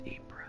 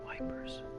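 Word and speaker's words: Ypres: was the gas the new BS so it's apra I was way off I figured I was but I didn't know era a down in RS dubbed wipers by British troops due to its difficult pronunciation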